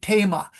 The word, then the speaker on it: Thema: So they say, for example, theme, the word theme, Theme, they say thema. So they switched to thema, and that actually becomes a velar ridge.